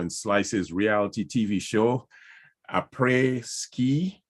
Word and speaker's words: Après Ski: She landed the role of CEO in Slice's reality TV show, Après Ski.